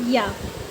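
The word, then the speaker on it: ㅑ: 2 small horizontal है, इसको हम प्रोनाउंस करेंगे या, ठीक है। और हिंदी में या, जैसे कि इंग्लिश में हो गया याच, ठीक है। याच की जो साउंड आती है या, वो आ नहीं, वो होगा या, ठीक है।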